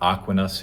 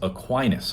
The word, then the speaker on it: Aquinas: Turns out I mispronounced Thomas's last name. It is not Aquinas, it is Aquinas.